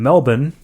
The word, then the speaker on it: Melbourne: try to go from Melbourne to Melbourne Melbourne Melbourne Melbourne that's that that's how they say it okay okay yes